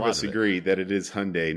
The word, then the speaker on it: Hyundai: Hyundai no h Hundai Hyundai gosh Hyundai it's Hyundai because it rides with Sunday I mean let's